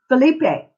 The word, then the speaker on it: Philippe: beneath beat no no you don't pronounce the e believe pH I ll i PP i e yes Philippe Philippe and that is for